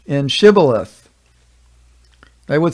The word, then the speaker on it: Shibboleth: unto him, 'Say now, Shibboleth,' and he said, 'Shibboleth,' for he could not frame to pronounce it right. The Ephraimites seem to have had trouble to pronounce the letter H.